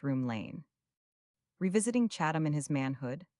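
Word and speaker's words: Rome Lane: and which was in a place called Rome, pronounced Room Lane.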